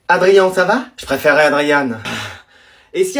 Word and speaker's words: Adrien: Tu préfères que je dise Adrien ou Adriane? Comme vous voulez. Adrien, ça va? Je préférerais Adriane.